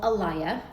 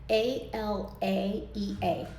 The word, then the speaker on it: Alaea: how to pronounce it, and it is called Alaea, and it's spelled a l a e a.